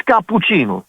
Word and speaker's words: cappuccino: It's capuccino. Capuccino. So each syllable has to be uh stressed always, you know, like I